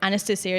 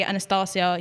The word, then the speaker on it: Anastacia: It's just like Anastacia is the way I say it. But then, like, obviously, if I said it in Russian, it'd be Anastacia, you know. Then there's the American version, which is Anastasia. So it's all the same name. It's just different pronunciations.